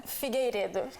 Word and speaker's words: Figueiredo: Figueiredo.